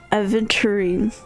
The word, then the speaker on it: Aventurine: like horn h Aven aventurine like Tangerine aventurin aent Terin oh